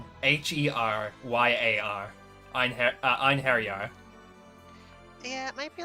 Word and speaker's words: Einherjar: in English, it's like Einheryar. Einherjar. Yeah, it might be like. I would hazard a guess that it would end on like an ah noise instead of an r noise.